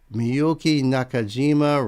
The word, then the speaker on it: Miyuki Nakajima: And Knight says, the artist name pronounced Miyuki Nakajima.